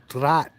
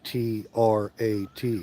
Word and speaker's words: Trat: English you spell it t r a t like TR but it's actually a DT Blended consonant right so you put the D and the T together it's right so trat